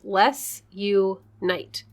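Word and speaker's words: Les U. Knight: named les you knight pseudonym intending to sound like the form the founders most ardent wish let's unite oh i thought it was supposed to sound like less no like no like less people no less l-e-s you period night spelled like a medieval knight let's unite okay according to les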